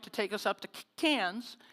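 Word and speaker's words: Cairns: We fly into Sydney, Australia, and we catch a flight to take us up to Canes. And I'm saying cans because the AIES don't pronounce their Rs either.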